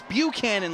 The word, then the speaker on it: Buchanan: had some people saying, you're saying Tim Buchanan's name wrong. It's Buchanan like the president.